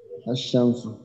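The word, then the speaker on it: الشمس: যে বিষয়টা সেটা হলো এই যে আসমসু লিখতে গিয়ে আমরা যেটা দেখলাম যে লামটা বাদ গেল এই শামসু অর্থাৎ সান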